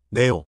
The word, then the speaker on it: แนว: 발음. 네 플러스 오. 네오.